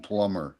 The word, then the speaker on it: plumber: And and what about like the B and plumber? Do you pronounce that? Oh, absolutely. Yeah, Not. plumber. Plumber. Absolutely Right.